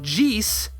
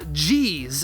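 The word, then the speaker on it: Jheese: It's not entirely intuitive based on the spelling that this should be pronounced Jace and not Jace, as in Jace's names are so complicated.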